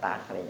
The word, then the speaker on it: takhrij: Bacanya bukan kharajtu. Ya, takhrij.